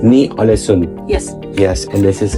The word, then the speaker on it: Ny-Ålesund: Please pronounce the town for me. Ny-Ålesund. Ny-Ålesund.